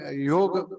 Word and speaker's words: योग: अब हम योग को योग नहीं कहते, योगा कहने लगे हैं।